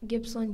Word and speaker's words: Gippsland: Gippsland. Gippsland. Can I have the definition? Means a region of Australia extending along the coast in eastern Victoria from near Melbourne to the border with New South Wales. Gippsland.